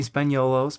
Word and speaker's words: Spagnuolo: married to Danny Spagnuolo. All of those are correct pronunciations. Are they all? Like, hold Yeah. on. It's Italian last names have lots of different pronunciations.